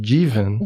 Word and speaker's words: Jivan: my name is pronounced Jen Jen yeah it's a Sanskrit and Hindi word so it's from India